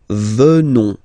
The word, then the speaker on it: venons: Final S not pronounced. So O-N, on, venons, venons.